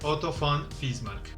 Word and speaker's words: Otto von Bismarck: son 3 marc ojo la uve se pronuncia como efe y normalmente en castellano se dice autobomba es marc pero para producirlo correctamente en alemán otto von bismarck otra vez austria tiene